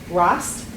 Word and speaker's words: Rost: And I'm going to start first with Emily Rost, that rhymes with frost.